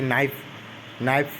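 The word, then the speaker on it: knife: जैसे कि नाइफ यहाँ नाइफ शब्द है, जबकि अंग्रेजी में के से शुरू होता है, जबकि यहाँ पे के जो है साइलेंट होता है।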